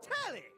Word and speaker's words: Telly: The name's Telly rhymes with like Whoa. Nelly, did you know Telly offers 5,000 channels like an endless deli?